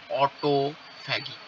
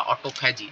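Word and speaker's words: autophagy: আমি একটা ছবি দেখেই পড়াবো, অটোফ্যাগি বা অটোফ্যাজি, যে যেরকম উচ্চারণ করে।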